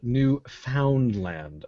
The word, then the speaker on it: Newfoundland: In Canada, there's this place called Newfoundland. Now, the reason I'm pronouncing it that way is that the CBC